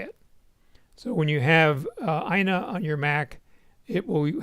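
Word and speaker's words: IINA: alternative to microft office sweet so this is pronounced Ina I think it's similar to VC which you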